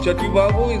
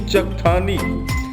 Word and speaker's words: Chakthani: Now Chativavo is actually Chakthani.